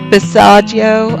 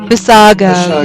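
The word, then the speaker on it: Basiago: Bissaggio. I always say it wrong. Bissago, yes.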